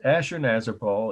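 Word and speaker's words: Ashurnasirpal: Ashur-nazir-pal is spelled Assur-Nasirpal. Assur-Nasirpal. Ashur-nazir-pal killing lions, just like it sounds, 3 words.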